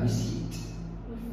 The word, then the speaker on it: receipt: It's a receipt. Good. A receipt. Receipt. The P is silent.